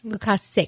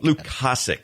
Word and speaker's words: Lukasic: Lukasic. Lukasic. Like you're sick. Like I'm sick.